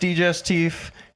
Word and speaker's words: digestif: So they say to the waitress, "Is it actually pronounced digestif?" And she goes, "Yes."